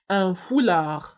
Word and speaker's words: foulard: وبالنسبة لهذا الثوب اللي كيرتديوه النساء كيغطوا به الشعر نتاعهم فيسمى un foulard. un foulard. وبالنسبة للفولاغ تكتب بالدي في آخر الكلمة ولكن لا ننطقها.